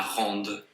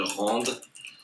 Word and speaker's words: rendent: rendons, vous rendez, ils rendent. And when it's a verb and it's il, we don't pronounce like that. We don't pronounce the ENT, we just pronounce the E.